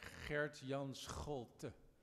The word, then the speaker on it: Gert Jan Scholte: He's also known, yeah, it's a difficult name to pronounce, I agree. Gert Jan Scholte. There's a few more countries who do the G. The Portuguese are pretty good with the G, and the Pashtuns in